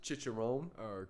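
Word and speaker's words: chicharrón: banging bro i got his specialty is the chicharron which is like um it's like a pork it's a pork how's that pronounced chicharon so basically it's the type of joint where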